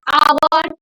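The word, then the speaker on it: hour: होते हैं ठीक है तो for example an आवर N hire an honest person इनमें क्या है एच क्या है म्यूट है और साइलेंट है तो इनके आगे हम क्या लगाएंगे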